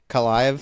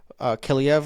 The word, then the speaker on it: Kaliyev: Kaliyev, or I can't even say his name. I guess I'm not that big of a fan. But Kalaev. I said it right the first time, and then I screwed it up.